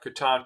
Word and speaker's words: Catan: And we had to kind of deconstruct that initiative when we became just Catan.